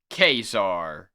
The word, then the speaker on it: Ka-Zar: The coming of Khazar, pronounced Khazar, featuring a fascinating journey to the world that time forgot.